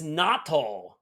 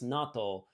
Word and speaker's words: natto: dear god who likes natto it is disgusting also thinking about it is not a long o i feel like it